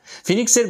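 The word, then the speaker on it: phoenix: Mister Raj Spencer ফিনিক্স ারো from Jimmy Valentine's essays.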